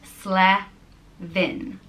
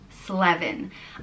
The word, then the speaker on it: Slevin: It's pronounced exactly as it's spelt, Slevin, Slevin.